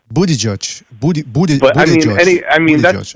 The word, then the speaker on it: Buttigieg: I can't pronounce the name either. How do you say it? But Gugieg or what? Pete Buttigieg. Buttigieg.